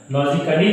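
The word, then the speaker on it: logically: फिर हमने एक लॉजिकली, ठीक है, लॉजिकली जो हमने शब्द है, देखिए ये भी इसमें ए भी साइलेंट है क्योंकि ये आया है, क्या आया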